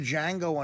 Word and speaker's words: Django: I was watching the Django Unchained I never watched that to D is silent did you see it